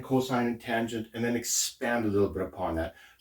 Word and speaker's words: cosine: Sin is sort of and this they might say cos instead of cosine. That would just sort of be shorthand, and here would be tan or tangent theta.